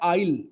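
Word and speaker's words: isle: और एक वर्ड होता है आइल, ये भी आइल ही होता है, एस साइलेंट होता है।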